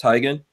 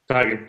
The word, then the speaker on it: Tiegen: That's the way it's pronounced, Tiegen. Tiegen, yep.